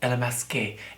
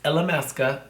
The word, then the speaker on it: Illamasqua: Am I saying it right? ILLAMASQUA? ILLAMASQUE. No, it's ILLAMASQUA Cosmetics from London, UK.